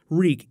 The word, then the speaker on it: Reek: Reek, it rhymes with weak, as he jumps overboard.